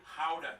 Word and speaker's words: Gouda: And the pride and joy of the nation, Gouda cheese. Sprinkles on that's how you toast?